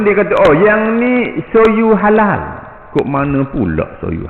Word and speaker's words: soju: arak arak Korea n rejaan dia soju tapi disebut sebagai Soyu Soyu ni arak Korea